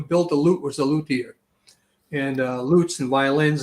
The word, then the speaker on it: luthier: you are a a luthier correct i am pronouncing that correctly yeah luthier which is a builder of string instruments well